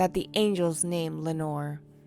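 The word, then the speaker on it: Lenore: So either option was the nameless Evermore that the angels named Lenor. Plus Lenor rhymes with evermore, so it works in poetry.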